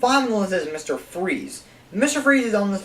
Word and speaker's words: Fries: Because I don't know why, I think it's a fancy way that says Freeze, but for people who think his last name is Fries, it's actually Freeze.